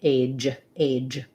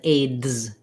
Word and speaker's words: age: And I want that to be one sound, age, rather than aids, dz. That's two sounds. So it looks kind of like it should be two sounds here. It's just one sound.